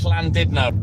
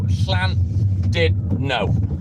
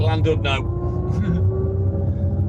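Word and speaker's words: Llandudno: Schlisvine sounds like a th and the letter U is pronounced as an I. So Schlan did no but everyone calls it landed no that isn't aware.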